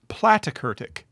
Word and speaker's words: platykurtic: We call this platykurtic. Plat rhymes with flat.